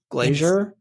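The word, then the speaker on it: Glaser: Judith Glazier. That's right. Did I pronounce that right?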